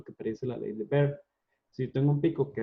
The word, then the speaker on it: Beer: Que por cierto se dice ley de Baire, no ley de Beer, porque Baire era alemán y entonces como es alemán se pronuncia Baire.